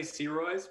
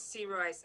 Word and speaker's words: Sirois: can describe people is pronounced the same way as you would say turquoise turquoise see Royce okay alright any motion